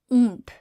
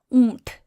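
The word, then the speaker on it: اونٹ: So because you know that it starts the same way as upar, we know that it'll be alif, vow, right? For that oo sound.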